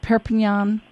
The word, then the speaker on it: Perpignan: pronounce the town right perpignon well actually that's how they pronounce it here though that's how I would not have pronounced it since but but they give everything a sort of Catalan pronunciation here and they pronounce many